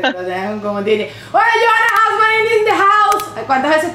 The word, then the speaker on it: Hausmann: mi apellido, aunque en Venezuela siempre me decían Guzmán. Porque no podía pronunciar. Porque Johanna Guzmán. Y yo como que, brother, es Hausman. O sea, como que, ¿dónde está la G en esa?